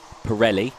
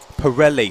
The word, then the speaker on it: Pirelli: going out to Jamie Pirelli Pirelli sorry okay well I apologize Jamie because I pronounced your name wrong for the entirety of 2022. like the tire uh okay okay he's